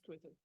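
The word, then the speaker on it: Cruthú: Yes, it's Cruthur. Cruthur, how do you spell that?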